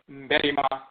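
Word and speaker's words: Mbarima: In the Asante dialect, in the Aakhuamuman dialect, is M-B-A-R-I-M-A, Mberima.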